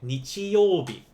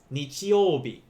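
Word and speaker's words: 日曜日: even he by itself in this case it's going to be nichi for sun you'll be for weekday so this would be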